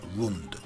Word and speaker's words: Rund: be best described as rund it's useful to identify the captives taken into the lunda Kingdom from Kasai would not have been able to properly pronounce Rune and they would have said Lund with expanding populations the